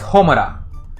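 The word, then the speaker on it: ほむら: hate Rune in English it's really not hate in Japanese it's uh it's homura you know uh which is an alternate reading of you know this kanji um or this kanji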